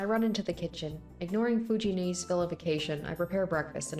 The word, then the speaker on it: 藤姉: Yeah, I gotta remember it's Fujine, technically. Fujine, not Fujini.